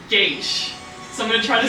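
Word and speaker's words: Geas: Gaius? Yeah, like Gaius, Wow. Deus. However, Isn't it G-E-A-S? What did you call it? Gaius. Gas. Gaius! yeah, like Gaius. I've been saying Gaius, but apparently it's pronounced Gaish.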